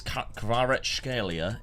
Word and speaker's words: Kvaratskhelia: I don't know how to say his first name, but I believe it's Kvaratskhelia is how you say his last name.